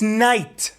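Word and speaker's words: knight: Um, no, it's night. But there's a K and and a G. Yeah, you you just ignore them.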